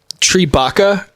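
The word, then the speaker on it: Tripitaka: It is Tribaka, I think is how you pronounce it. I actually suck at pronouncing Chinese.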